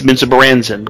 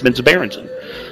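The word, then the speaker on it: Menzoberranzan: You know, it's Minza Baranzan, but you know, talking from Bob's aspect, it's Minza Berenson. But the correct, you know, so there is correct, and then there is a regional dialect that will change that.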